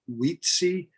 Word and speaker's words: Wietse: Yeah, so DIVD researcher, Wheat, I'm gonna say it wrong, Wietse Boonstra.